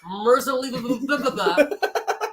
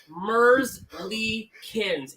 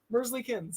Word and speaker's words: Merzlikins: It is not Merzly. It is Merzlikins. It is It's so three. hard to pronounce. Merzlikins. It's three syllables. Mersley-Kins.